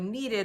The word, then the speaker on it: kneaded: you're going to hear the word needed a lot that begins with a silent K not like needed this one with the double e in the middle because those are homophones so I want you